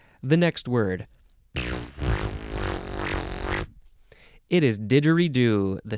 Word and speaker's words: didgeridoo: it is Spill Still Still pronounced didgeridoo instead of digger redo um you could also change what are we didgeridoo you can emphasize the last syllable didgeridoo um I think also